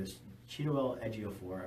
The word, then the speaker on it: Ejiofor: name is cute little Ejiofor I believe is how you pronounce it he was also